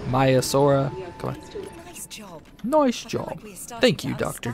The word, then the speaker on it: Maiasaura: my mice or whatever I'm gonna continue to say the name wrong Trevor seems like I'm never gonna get it right okay my Azure or my still she said it right there but Maiasaura noise job thank you